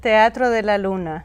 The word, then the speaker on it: Teatro de la Luna: How do you say it? Teatro de la Luna. See, I can't say it like that.